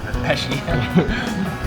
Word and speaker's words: Pesci: Pesci Joe Pesci from Home Alone "Where's that kid?"